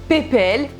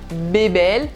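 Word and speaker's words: Pépel: un certain caractère donc ils le surnomment ppl et non pas bébel j'essaie de vous prononcer vraiment comme ça bébel pepel oui c'est compliqué donc ppl et son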